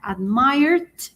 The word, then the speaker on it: admired: o a la momento al momento de pronunciarlo va a ser como con una d, por ejemplo, el verbo admire que es admirar, admired con d al final.